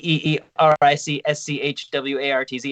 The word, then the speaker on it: Eric Schwartz: Eric schwarzen three E's with three E's e e r i c s c h w a r t z it's pronounced Eric Schwartz and then uh YouTube Eric